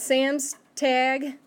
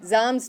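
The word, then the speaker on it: Samstag: means freedom next one it's not Sam's tag okay try it zoms Doug took a Z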